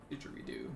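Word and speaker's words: didgeridoo: Gavin saying diggery-doo in chat. I don't... Didgery-doo. Didgery-doo? Didgery-doo. Didgery-doo. Didgery-doo. We were actually having a conversation about this at lunch, so I do feel confident in that pronunciation.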